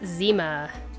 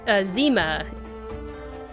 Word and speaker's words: Zima: So, and just so you know, you pronounce this Zima. Apparently. The rest of us didn't know until we found out either. Yeah. I think it's Cyrillic, is that right? But yeah, pronounce Zima. Like Zima. Like that.